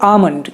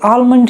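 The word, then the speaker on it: almond: फिर आमंड, ये तो आप भी जानते हो कि इसे आमंड कहते हैं, एल थोड़ा सा साइलेंट है, लेकिन क्या आप ये जानते थे कि यूएस में इसे आलमंड ही कहते हैं। लेकिन फिर भी आपको अगर ज़्यादा बोली चाली वाली भाषा चाहिए तो मैंने आपको ग्रीन में दिखाया हुआ है कि आमंड कहिए, वो ज़्यादा सेफ है।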